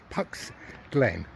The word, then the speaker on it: Puck's Glen: Yeah, I have to be very careful with the way I pronounce that. It is, as you can see, it's without the F, it's with the P. Puck's Glen.